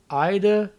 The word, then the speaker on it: Ide: It is said Ide, Ida, and Ida or something like, I forget what the third pronunciation was.